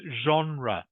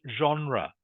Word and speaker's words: genre: test is, what does genre mean? It's pronounced genre, by the way. Genre. It's a French word, and it means what type of movie was it?